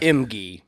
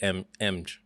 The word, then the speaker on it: Emge: and gentlemen e-m-g-e i don't know how do you say your last name emgee emgee emg yeah for real you're not trolling me no sir emgee i i always for the ever i've always said mg you know what it